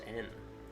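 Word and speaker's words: 円: well fun fact uh yeah in japanese is pronounced in is it really yeah they just don't have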